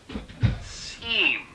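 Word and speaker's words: SIEM: We get what we call SEAM. At least that's how most people pronounce it anyway.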